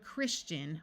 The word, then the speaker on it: Christian: its long sound dation one important exception to this is the word Christian where the ti says CH instead of sh our final suffix is